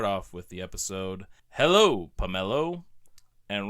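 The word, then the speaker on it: Pummelo: And this is spelled pomelo, like pummel, like to beat up, like to pummel somebody.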